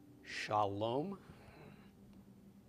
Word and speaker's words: shalom: Okay, so we've got sh of the sheen, the a of the comments, the l of the lamed, o of the cholam, and the m of the final mem. All together is shalom.